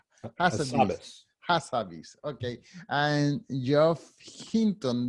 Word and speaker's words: Hassabis: I don't know how to pronounce his last name. Demis Hassabis. Hassabis.